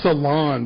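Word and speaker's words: salan: Yeah, it's Ceylon, but it's spelled like S-A-L-A-N.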